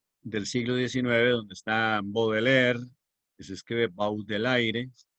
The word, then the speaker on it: Baudelaire: simbolismo poético francés del siglo XIX, donde está Baudelaire, que se escribe Baudelaire, Rimbaud, que se escribe Rimbaud, y Verlaine, que se escribe Verlaine.